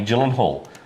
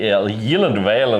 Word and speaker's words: Gyllenhaal: It's actually he said the only time it's ever been pronounced correctly is in Sweden and also with um at IKEA and it's actually Yeland or something like that.